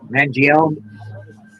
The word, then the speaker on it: Mangione: Mangione.